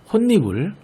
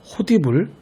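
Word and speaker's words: 홑이불: 특히 이 혼니불, 반니랑, 솜니불의 경우 발음의 편의만 생각해서 호디불, 바디랑, 솜이불로 발음하는 경우가 종종 있거든요. 이렇게 읽지 말고 음절의 끝소리 규칙과 니은 첨가를 반드시 함께 적용해서 혼니불, 반니랑, 솜니불로 읽어야 한다는 것 꼭 주의했으면 좋겠어요.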